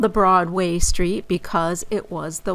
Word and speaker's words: Broadway: to south and uh we call it Broadway but you may have run into some older New Yorkers who still call it Broadway with the accent on the way uh instead of Broadway with the accent on the broad as we say it today so that's the reason